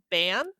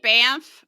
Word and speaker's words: Banff: I find Banff very hard to say. Maybe I'm alone on that, but I feel like it's impossible to pronounce the N. It comes out sounding like an M.